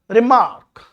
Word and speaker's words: remark: Now, the first syllable in the word remark, look at this, remark is shorter than the second syllable. Listen carefully. Remark. Remark. Mark has longer time and re has short.